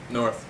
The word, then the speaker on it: Nauerth: Am I pronouncing it right? Nauerth? Nauerth.